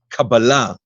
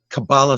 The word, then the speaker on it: Kabbalah: And another thing about not just the title, but even the pronunciation, we rather use the Kabbalah, the Hebrew version of the pronunciation, which is, Kabbalah sounds very American, if That's you right.